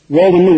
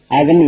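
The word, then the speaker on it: oven: மீனிங்னா அடுப்புன்னு அர்த்தம் ஆக்சுவலா இந்த ஓவி எற வார்த்தைய ஓவனு உச்சரிக்கறாங்க ஓவனு உச்சரிக்க கூடாது அவன்ு உச்சரிக்கணும் அப்ப உச்சரிப்பு என்ன அவன் சாரி ஸ்பெல்லிங் என்ன ஓவி நிறைய பேர் இத வு உச்சரிக்காங்க முதலே சொன்னேன் அது தப்பு ஓவன் கிடையாது அவன்தான் இதனுடைய சரியான உச்சரிப்பு.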